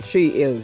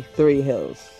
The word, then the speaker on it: Three Hills: But they call it Tree Hills, okay? So if you come here, you have to say Tree Hills. You can't say Three Hills, okay? But it's spelled Three Hills, but it's a Tree Hills, all right?